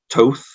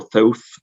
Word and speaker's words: Thoth: on my body, is the Egyptian god Thoth, or Thoth, depending on how you choose to pronounce it.